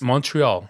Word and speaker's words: Montreal: Montreal. They're Canadian. That's how you say it in French Canadian.